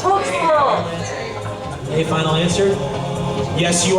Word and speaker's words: Tewksbury: It's pronounced Tewksbury.